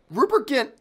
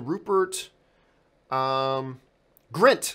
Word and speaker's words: Rupert Grint: of all Rupert get Rupert Kent has if I by the way am I saying his name right whole second do to do to do is it Rupert Grint sorry I mispronounced it Rupert Grint he's got